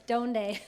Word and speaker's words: Donde: I'm joined by Riley Butters, the co-founder and CEO of Donde. How are you? Good. Got that right? Yeah. I drilled him. I said you have to say it right. It's Donde. Donde.